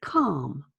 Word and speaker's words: calm: For example, the word calm has an L, but we don't say an L sound, so the phonetic script does not show it.